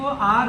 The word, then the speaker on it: hour: लोग इसे आवर भी पढ़ देते हैं कभी कभी, लेकिन इसे आवर पढ़ा जाता है। इसको आप आवर पढ़ें, ठीक, आवर पढ़ते हैं, या इसको आर भी पढ़ सकते हैं इस तरीके से।